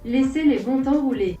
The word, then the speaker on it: Laissez les bons temps rouler: This phrase, by the way, for anyone who doesn't speak French, is pronounced "Laissez les bons temps rouler," and it means let the good times roll.